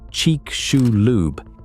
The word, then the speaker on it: Chicxulub: The Chicxulub, pronounced cheek-shoe-lube, impactor didn't come in straight down.